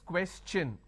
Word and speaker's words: question: is sure sound no when i have the word question the t i o n becomes cha no so it becomes question all right so please